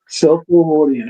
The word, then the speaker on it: Cell4 Hordian: um Diaxis that says he pronounced it just SELL4, like cell 4. Okay. Cell4 Hordian.